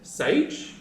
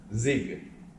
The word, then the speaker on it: SIEG: the brand name s is it Sage is it Siege or Z it's the zig Zig is a German word okay English is means